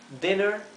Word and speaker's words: dinner: Fíjense lo siguiente, cuando la vocal está cuando la vocal está sucedida por una doble consonante, como en este caso, la vocal se pronuncia bien cortita.